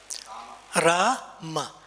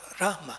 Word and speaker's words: Rama: Rama. The second one is short. Rama. And sometimes when you chant and you can hear, others cannot hear you saying Ma. Hare Rama, Hare Rama, Rama, Rama, Hare.